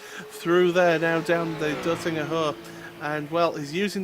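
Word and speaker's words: Döttinger: I think, like Cisco said, I think his best bet will be down the Dottinger straight. Which straight? The Dottinger straight. There you go, yeah. I said it right. I said Bottinger.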